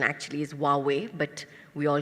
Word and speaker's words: Huawei: brand I mean we have a brand called who are we and they came to us and the right pronunciation actually is Huawei but we all call it who are we